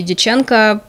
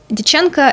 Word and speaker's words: Дьяченко: Я вернулась к фантастике, прочитала книгу Марины и Сергея Дьяченко, по-моему, так ставится ударение, под названием «Стократ».